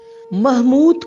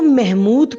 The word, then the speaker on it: محمود: پہلا لفظ ہے محمود۔ محمود کو محمود پڑھنا غلط ہے۔ محمود نے آج